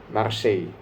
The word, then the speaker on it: Marseille: Kemudian ada juga Brighton, yang seru ini Brighton lawan Marseille ya. Marseille bacanya.